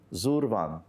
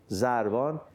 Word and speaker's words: Zurvan: And thereby is Zorvan, Zurvan, or Zarvan as it's pronounced, Zarvan.